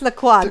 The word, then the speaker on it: Lacroix: like Christian Lacroix it's I think it's Lacroix darling remember this from absolutely fabulous liquid darling it's the qua but that's basically how